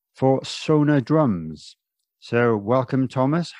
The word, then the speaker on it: Sonor: all can you confirm the correct way to pronounce sona or sono i don't know because i hear so many different versions yeah uh well we we always say so no because you know like the german way um if and i've